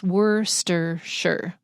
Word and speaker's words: Worcestershire: And then we have all these ingredients, and I just want to say Worcestershire gets squished up into 3 syllables. Worcestershire.